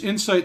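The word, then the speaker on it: Incite: It's spelled INCIITE, and there's a reason for this stylization, but it's Insight Studios, and we listened to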